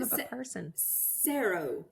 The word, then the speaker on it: Cerro: Cerro. It's Cerro, Spanish. S-E-R-O. Cerro. Well, I've got that. So in other words, you just said Sarah, S-A-R-A, and it's really, how do you spell it?